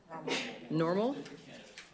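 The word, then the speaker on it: NORML: Norm, I think it's pronounced N O R ML. Normal.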